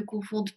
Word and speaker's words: confondent: Обращаю ваше внимание, как и в предыдущих глаголах, здесь во множественном числе «d» произносится, а в единственном нет. То есть «confondons», «confondez», «confondent». И voilà.